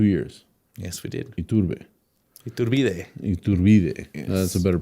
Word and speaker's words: Iturbide: Iturbide. Yes. That's a better pronunciation. Iturbide.